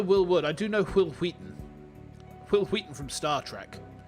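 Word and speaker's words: Wil Wheaton: I do know Will Wheaton. Will Wheaton from Star Trek. And I know that you pronounce his name as Will Wheaton.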